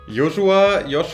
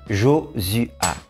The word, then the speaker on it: Josuha: Joshua, habe ich es richtig ausgesprochen oder wie sagt nein, man richtig? Nein. Auf Französisch normalerweise sagen wir Josua.